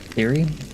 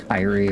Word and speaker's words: Siri: Yeah, my name is Siri. Cuz I know a lot of people probably think it's like I don't know Kyrie or something like that.